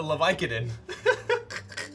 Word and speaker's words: Leviatán: It's the Leviathan. Accent on the A.